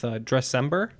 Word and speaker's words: Dressember: cause in front of you as well with Dressember. Am I pronouncing that right?